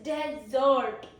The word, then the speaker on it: desert: Then we have pronunciation two which is desert. Desert. Okay. Stress on second label it is a verb.